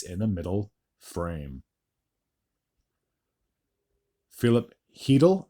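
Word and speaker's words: Chytil: the middle frame Philip heel I believe is how you pronounced his name I've been saying cheel this the whole time but I believe that c is uh silent would get his fifth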